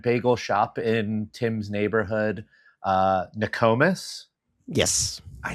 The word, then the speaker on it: Nokomis: Nokomis.